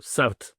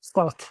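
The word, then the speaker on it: صوت: So Sawt, all right? Sawt.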